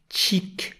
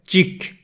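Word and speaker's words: çhık: Bunu çik şeklinde okuyamayız. Sert bir biçimde cik yani kıvılcım cik diye okumamız gerekiyor.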